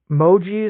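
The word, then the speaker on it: Mougey: reached out and just talked to, I think, Moji is how you say his name, the GM for the Jets.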